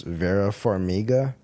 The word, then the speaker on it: Vera Farmiga: I think I don't know how to pronounce her name. It's Vera Farmiga.